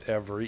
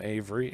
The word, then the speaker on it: Every: every or avery some pronounce it every e v e r y some avery a v e r